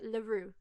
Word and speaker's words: Leroux: Yeah, the X is silent, so it's like Leroux.